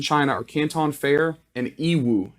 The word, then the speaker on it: Yiwu: The biggest markets in China are Canton Fair and Yiwu. Yiwu, it's spelled Y-I-W-U.